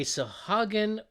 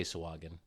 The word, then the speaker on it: Sahuagin: So, also from WizKids, a Sahuagin warband, or I've heard it from different pronunciations. Sahuagin. Just say it fast, like you own Sahuagin, it.